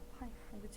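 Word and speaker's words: π: 기호 얘를 뭐라고 읽는다? 파이라고 읽어. 파이.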